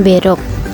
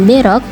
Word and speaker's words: Berok: Nama Berok berasal dari pelafalan broek yang berarti jembatan oleh pribumi.